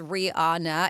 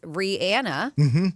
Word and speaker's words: Rihanna: Rihanna is not, they said, is not, in fact, pronounced Rihanna. It's Rihanna. But nobody's going to go back to the way they want it.